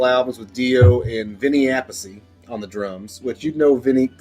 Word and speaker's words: Appice: There's Vinny Appice and then the other Appice, but he calls his Carmine. Vinny and Carmine, they're brothers, but one pronounces his name Appice, one pronounces his name Appice.